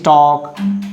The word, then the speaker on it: talk: Here is half, and here is talk, L letter silent.